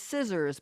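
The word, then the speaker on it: Cizzorz: old today happy birthday and their name is scissors but it's spelled c i z z o r z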